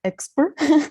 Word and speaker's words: Expr: So Expr language, pronounced like Expr as an expert.